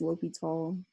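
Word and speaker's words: L'Hôpital: so l'hopital's rule and some people like i think on your homework it's Fogel a hospital but it's always pronounced look at all so l'hopital's rule says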